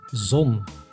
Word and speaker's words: zon: Ron zet the letter zet Z like in zon which means Sun that was the alphabet but in terms of pronunciation the real difficult stuff starts only now